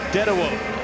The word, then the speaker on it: Dedewo: Dedewo, as it's pronounced, Paul Dedewo of the USA in five.